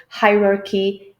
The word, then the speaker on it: hierarchy: draw students' attention that not always the CH sounds in English will be pronounced as ch. Very often they could be pronounced as k, as is the case with all the 6 words in this handout.